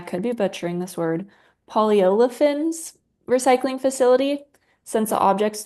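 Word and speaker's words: polyolefins: for, and I could be butchering this word, polyolifins recycling facility since the objects turn into shards after shredding.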